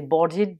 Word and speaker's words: boarded: je mets Ed et ce ed je le prononc ID the barded the plane for warsa